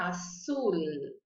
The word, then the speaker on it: azul: Então, eu vou dizer que essa cor é azul. Azul. Em português, a gente fala azul e para no U. Então, azul. Brasil. Raul. Tenho que pronunciar o L, não posso ignorar o L, tá bom?